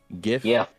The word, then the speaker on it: GIF: GIF. Yes. GIF with a soft G because it's not, you know, it's G.